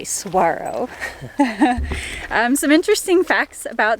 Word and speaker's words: Saguaro: tempted to pronounce Saguaro Saguaro like we were because it's spelled sagu a ro but the G is silent you actually pronounce it like a w so if you come